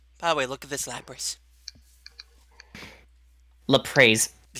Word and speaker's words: Lapras: a what he's like 'la praise the Allah praise it and look at it like you mean Lapras he's like yeah 'la praise the dumbest pronunciation have ever heard for lappers ever still better than